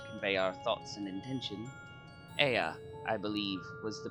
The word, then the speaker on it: Ea: When the vibration of vocal folds was still required to convey our thoughts and intention, Ea, I believe, was the pronunciation we used when referring to our people.